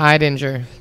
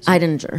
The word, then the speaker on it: Eidinger: Is it Edinger or Eidinger? Edinger. it's the I don't know. guy I Adam told. Eidinger. Eidinger. Thank you.